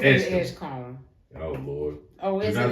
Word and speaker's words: Edgecombe: It's pronounced Edgecombe.